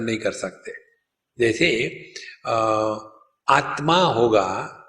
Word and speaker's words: आत्मा: कंजंग consonant होता है, जोड़ाक्षर, वो ठीक से उच्चारण नहीं कर सकते। जैसे आत्मा होगा तो आत्मा को अत्ता कहेंगे, तत्वमसी होगा तो तप तमसी कहेंगे।